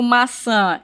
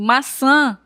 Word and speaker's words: maçã: Quando eu digo maçã e violão, nós percebemos que o tio ele vai dar um som nasalizado, né? Eu pronuncio a vogal, no caso a vogal A de forma nasalizada. O som vem para a a narina.